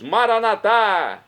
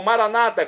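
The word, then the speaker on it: Maranatha: aramaico dialeto de Jesus maranat como dizemos nós católicos ou Maranata como dizem nossos irmãos separados os evangélicos ou protestantes não importa pronúncia o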